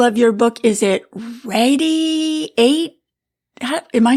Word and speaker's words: Radi8: It's actually, it's Radiate. So Radiate. Sort of a play on the word. Got you. Okay, well, that's clever. Now, just so the listeners know what we're talking about, it's spelled R-A-D-I and then the number 8.